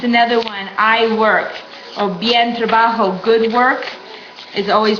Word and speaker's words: bien: just another example of why it's pronounced bien. Because that I, English I by itself is E.